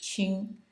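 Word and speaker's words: 戚: n in the uh second tone and the chi uh Ching is uh written like this and is pronounced Q like a CH hard CH ching and it has the uh uh first tone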